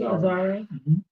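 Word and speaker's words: Azzaro: And Outlaw, that fragrance is inspired by Wanted by Azaro. Am I pronouncing that correctly? Azaro. Correct.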